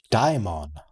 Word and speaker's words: Daimon: Daimon. Not Daemon. Daimon.